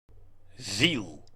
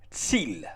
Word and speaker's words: Ziel: Ziel. Ziel. Well, only a slight difference in pronunciation, as the Z is pronounced a bit different in German from Dutch.